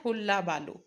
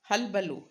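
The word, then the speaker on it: hullabaloo: It's not hulla balu. Halbalu. Halbalu and cacophony, right?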